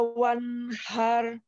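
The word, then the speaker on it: وَانْحَرْ: Fasolli li rabbika wanhar. Boleh diulang sekali lagi. Fasolli li rabbika. Fasolli li rabbika wanhar. Haknya lembut. Wanhar. Wanhar. Ya.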